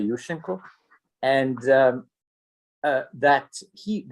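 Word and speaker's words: Yushchenko: overthrown by Yusen Yusenko let me pronounce the Ukrainian way Yusenko and um uh that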